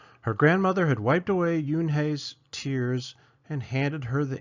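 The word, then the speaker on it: Unhei: corrected it's spelled u n he I it's pronounced Yun oh it's you hey the boy said like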